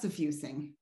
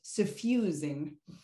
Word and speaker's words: suffusing: It's not suffusing, it's pronounced suffusing.